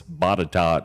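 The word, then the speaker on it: Botetourt: the place yeah yeah it's body tot is does not look like it sounds at all it might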